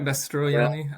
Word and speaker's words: Mastroianni: Mastroianni, I think. Mastroianni. Extra syllable in there. Mastroianni.